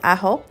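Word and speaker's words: Ajo: এই শহরের নাম হচ্ছে আহো। তো এটার মানে উচ্চারণটা হচ্ছে এ জে ও, হ্যাঁ আমি যদি ভুল করে না থাকি। তো উচ্চার মানে স্পেলিংটা হচ্ছে এ জে ও, আর এটার উচ্চারণ হবে হচ্ছে আহো।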